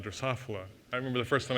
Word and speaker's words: Drosophila: organisms this morning i was really impressed uh drosophila drosophila i remember the first time i said that